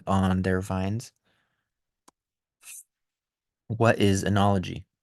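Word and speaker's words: oenology: What is enology? Enology is also known as enology, pronounced the same way.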